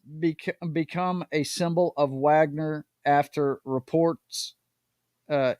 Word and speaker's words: Wagner: an apparent reflection of Wagner's deployments to Syria and several African countries yep and I think I think it's pronounced Wagner but I'm an American so I say Wagner as well yeah yeah I'm gonna